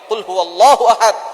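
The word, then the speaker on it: قُلْ هُوَ اللَّهُ أَحَدٌ: আল্লাহ পাক রাব্বুল আলামন এখানে বলছেন কুলহু আল্লাহু আহাদ। এখানে কফ দিয়ে পড়ছেন কিন্তু অনেকেই ভুল করে উচ্চারণ সঠিক না হওয়ার কারণে তারা পরে কাফ দিয়ে।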